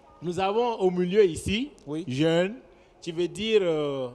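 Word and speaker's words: rén: Donc, bon, nous avons au milieu ici, jeune, qui veut dire... jeune? Oui. C'est où jeune? R-E-N. D'accord, on lit ça comment? Jeune. Jeune. On ne prononce pas le R.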